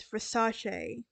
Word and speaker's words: Versace: layers said later is slow and clear it's Versace now Versace now that we talked about the